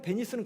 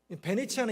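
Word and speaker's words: Venezia: 그 베네치아에 가면 베네치아랑 베니스랑 헷갈리는 분들이 종종 있던데, 베네치아랑 베니스는 같은 동네입니다. 베네치아는 이탈리아 말이고 베니스는 영어식 발음입니다.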